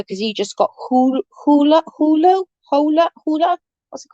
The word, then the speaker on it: Hulu: you add your that i could never say it it's pronounced hulu hulu thank you yeah my